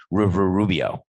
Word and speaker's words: Rubio: not that good anymore i know it's rubio coco stop yelling in my ear sister's studio is a song by phil collins that rhymes with rubio so marco rubio played